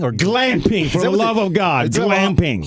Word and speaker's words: glamping: glam love of God glamping hard G like again GLA MP glamping what the heck is